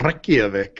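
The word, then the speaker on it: Reykjavík: You even rolled the R for that Reykjavik. I like that.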